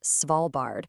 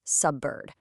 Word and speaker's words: Svalbard: The target is Svalbard, which requires clear stress and vowel length. But the actual speech gives us subbird.